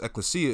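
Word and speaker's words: ἐκκλησία: that were ekklesia or the Greek word for church okay which is pronounced ekklesia it says the called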